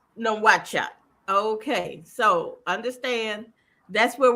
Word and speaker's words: Nouakchott: And how do you pronounce the capital city? That's Nouakchott. Nouakchott.